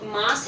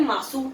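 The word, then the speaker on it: ます: अब यहाँ पे जो मास है, ये मास, इसमें देखिए पहले तो यू जो है वो साइलेंट रहता है। जैसे देस में मैंने बताया था यू साइलेंट है, देसू नहीं होता, देस होता है। वैसे ही मास होता है, मासू नहीं होता है, मास होता है।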